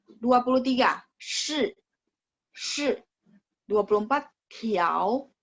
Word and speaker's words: 条: 共 23 shi 24 条 ingat t baca th 条 25 裤子 ka